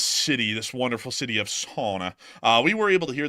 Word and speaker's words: Sana'a: I just found out from Matthew today, he went and pulled up what the official translation or pronunciation of Sana'a is in English, and it quite literally is like sauna, like a sauna.